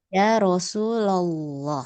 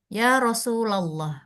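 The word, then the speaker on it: يا رسولَ الله: Ya Rasulullah. Ah. Ya Rasulallah. Bukan ya Rasulullah. Ya Rasulallah.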